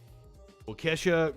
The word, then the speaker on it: Waukesha: We're going to check in on the Waukesha. I think I said it right that time. Waukesha Christmas Parade killer.